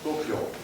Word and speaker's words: Goppion: Goppion, qui est un nom italien, vénitien, mais qui se prononce en français parfaitement comme Goppion.